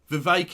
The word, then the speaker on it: Vivek: rhymes with fake yeah vake it rhymes with snake etc etc Ste oil